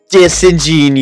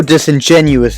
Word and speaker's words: disingenuous: change flight's name forever disingenous yes although disingenuous is the actual pronunciation of the word flight was not aware